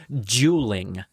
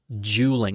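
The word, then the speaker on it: JUULing: Jeweling. Jeweling. It's spelled J U L I N G.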